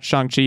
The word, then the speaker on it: Shang-Chi: of the episode so my apologies for that chongqi is what we're talking about and we have